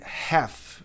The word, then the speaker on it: half: Metade, half. Mesmo acontece aqui. O L no calf não é pronunciado e aqui nem metade.